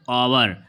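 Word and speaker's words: hour: तो यहां पर इसको पढ़ा जाएगा जो एस साइलेंट लेटर है आवर। आवर क्योंकि आ से आ तक साउंड दे रहा है इसलिए इसमें आर्टिकल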